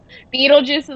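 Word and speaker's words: Betelgeuse: of different ways but it starts with a B and ends with a E beatlejuice beatlejuice is how we say it okay so it's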